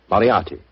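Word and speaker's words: Moriarty: it or mispronounce it, I'm afraid I'll have to begin calling it the way it looks. M O R I A R T Y. Moriati.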